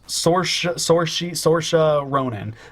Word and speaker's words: Saoirse: The chick from Lovely Bones, Saoirse Ronan. I don't know how you pronounce her name.